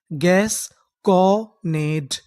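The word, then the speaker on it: gasconade: डी ई, डा, क्योंकि ई का उच्चारण हमें करना नहीं। तो हमारी पूरी मीनिंग क्या बनी, गैस कॉनेट, गैस कॉनेट, गैस कॉनेट।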